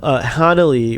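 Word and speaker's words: Hanelle: point out that now Hana Lee which is the correct way to pronounce her name Hana Lee Culpepper directed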